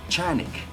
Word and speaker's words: Canik: very very long time it's a canik yes or as uh the proper name would be chanuk not cat right if you uh do the turkish the actual turkish not spelling pronunciation and this is the